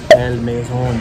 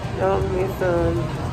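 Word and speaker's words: El Mesón: El Maison. That's not how you say that. That's French. El Mason sandwiches.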